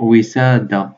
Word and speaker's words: وسادة: صح، روحو الوسادة، وسادة كي تنطقها تنطق وسادة بلا التاء، التاء ما تنطقش، وسادة التاء ما ننطقوهاش، دونك وسادة هاكا.